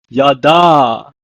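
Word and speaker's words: ידע: In Hebrew, is pronounced as yada.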